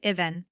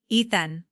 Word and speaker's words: Ethan: "Or is it I even Ethan?" I corrected gently.